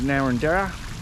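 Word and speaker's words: Narrandera: little detour at a place called naranda that's how it's pronounced and this Fountain here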